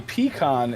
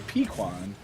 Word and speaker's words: pecan: to confuse you more a pecan is also a pequan but a piquan is not a pecan what caramel pequots why